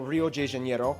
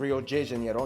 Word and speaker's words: Rio de Janeiro: from the old capital Rio de Janeiro that's right it's pronounced of Rio de Janeiro not Rio de Janeiro but right we're not in Mexico this is Portuguese not Spanish this was done in